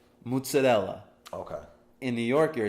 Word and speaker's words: mozzarella: the words like in in Italian you would say mozzarella okay in New York